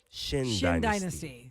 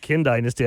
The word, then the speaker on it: Qin Dynasty: Pronounced Shin Dynasty. No So way. QIN, what? Yeah. Shin Dynasty. We're talking about a restaurant that Really? Eric likes, an Asian food restaurant called QIN Dynasty. We don't know how to say it. I just called it Kin Dynasty.